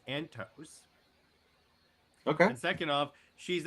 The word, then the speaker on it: Antos: Yeah, where did Heather Antonos go? First off, her name is pronounced Antos.